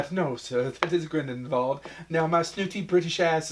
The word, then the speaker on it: Grindelwald: Well, it depends on who you say. If Who said Dumbledore it? says it, there's the V. If everybody else says it, it's a W. Yeah, maybe that's a throwback to that Voldemort. Well, it probably is a throwback to their dumbass Americans and the one who's educated to know maybe what a German name would be.